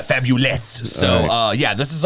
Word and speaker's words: Fabuless: rock stereotype of that we take words and we spell them wrong but it's pronounced yeah fabulous so uh yeah this